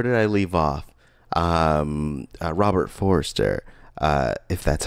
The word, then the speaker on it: Forster: Robert Forster. If that's how you pronounce his last name.